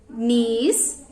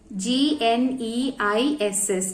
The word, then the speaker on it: gneiss: Slate, marble, gneiss, quartzite. Once again repeat. Slate, marble, gneiss, G-N-E-I-S-S, gneiss. Okay, pronunciation is gneiss.